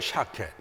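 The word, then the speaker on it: שָׁקֵד: 샤켓. 샤켓이라고 부릅니다. 살구나무를 발음을 할 때 살구나무를 갖다가 샤켓이라고 말해요.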